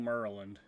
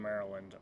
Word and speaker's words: Maryland: So yeah, and I see right here, Rambler, good old Maryland.